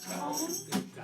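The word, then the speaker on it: cajón: And I always say the name of it wrong, but I'm saying it right tonight. Cajon.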